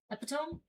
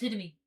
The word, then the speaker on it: epitome: No, it looks the way that it looks how it's spelled is not how it's said. Oh, okay. So, if you only read it and you never said it out loud, you would think epone.